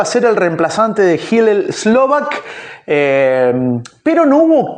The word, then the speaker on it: Hillel: Bueno, cuando pasa lo que pasa con Hillel Slovak o Hel Slovak, como se pronuncien, yo lo escuché Hel o Hillel, para mí es Hillel, Slovak.